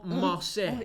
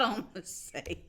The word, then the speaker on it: en masse: En masse. No, it's not en masse. It's en masse.